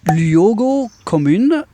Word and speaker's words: Luogo Comune: So to my right, I have Luogo Comune. Did I pronounce that correctly? Yeah. Pretty much.